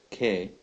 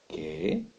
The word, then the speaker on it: qué: as a question word K note the accent on the E which means it is a question word it also means there's an added emphasis to the e sound when you pronounce the word okay you have also